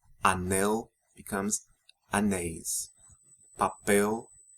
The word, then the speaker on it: anéis: Anel becomes anéis. Papel, papéis. Lençol, lençóis. Notice the accents in and the open pronunciations of the vowels in the endings of nouns ending in EL and OL.